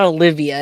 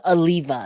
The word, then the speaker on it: Oliva: you say that Oliva it's not Olivia it's Oliva excuse me Gary Aliva